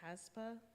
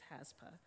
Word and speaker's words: HASPA: the name wrong earlier is it haspa not hapsa it's haspa yes so what they are